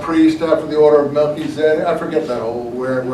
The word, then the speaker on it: Melchizedek: A priesthood after the order of Melchizedek. Or as some of you might have heard it said in a sermon, Melchizedek.